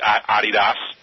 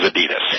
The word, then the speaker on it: Adidas: your friends, I mean, everybody says everybody says Adidas, right? You know, is Adidas and the actual pronunciation of it is Adidas. Adidas.